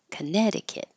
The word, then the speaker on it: Connecticut: don't hear anything here contic not connect Conneticut Connecticut and then these two states this one is